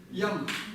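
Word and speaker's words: དབྱངས: Так как ба у нас стоит перед да, вот этот вот союз он не читается, то есть вот это вот соединение не читается, то есть ба не будет читаться, значит читается как? Ям.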